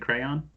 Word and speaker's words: crayon: I think it's crayon. I think normal people pronounce it crayon. I think I pronounce it like C R O W N.